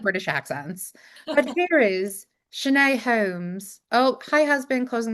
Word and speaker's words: Shanay: But it's said as it's written, Shanae, so you got it perfect. Shanae.